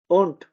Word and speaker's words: und: अगर किसी वर्ड के एंड में है तब हम उसको डी को डिवाइस करके टी की तरह प्रोनाउंस करेंगे, ठीक है, गेल्ट, ओंट, ठीक है।